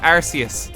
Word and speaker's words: Arceus: You pronounce it Arceus.